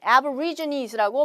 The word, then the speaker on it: aborigines: 자, aborigines라고 발음을 하시면 되고 우리가 한국말로는 아마 에보리진으로 알고 있는 친구들이 많을 거예요.